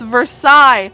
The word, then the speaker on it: Versailles: watched say that name pronounces it horribly it's french it's versaille the versailles treaty the